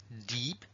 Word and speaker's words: deep: th Deep depth claro Deep con dos es Es más típico que se pronuncia Deep una y larga mientras que esta y